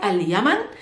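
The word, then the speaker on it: اليمن: al at the beginning like aliyaman yaman is yemen aliyaman somebody who comes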